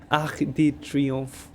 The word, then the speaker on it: Arc de Triomphe: Yeah, I learned how to pronounce it from my colleagues. Arc, Arc de Triomphe.